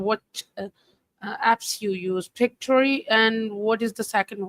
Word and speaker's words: Pictory: Pictory. Ai. It's P I C T O R Y. AI. Think picture story synthesia.